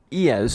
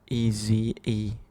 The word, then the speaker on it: Eze: Iez from Crystal Palace. Ooh. Iez. E-Z-E. They. Eze. Why did I say Iez? Eze.